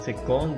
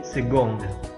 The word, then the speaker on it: second: juga yang agak ekstrem bukan bukan second tapi segong Oke ini juga cara